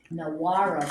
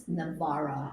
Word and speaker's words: Nawara: Because, I used to say Nawara Brothers, which were down the street from me, and my daughter goes, Mother, it's Navara. I said, it's N-A-W. And she goes, N-W is a V in Polish.